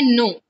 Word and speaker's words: know: तो जानने के लिए होता है KNOW, और इसको प्रोनाउंस हम करते हैं नो, नो नहीं पढ़ते, नो पढ़ते हैं।